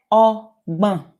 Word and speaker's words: ọgbọ̀n: So 26, 30 is ogban. Ogban. Let me zoom in so you can see me. Ogban. Ọgbọ̀n. Ọgbọ̀n. Ọgbọ̀n. Okay? It's the b sound. Ọgbọ̀n. This GB is pronounced b.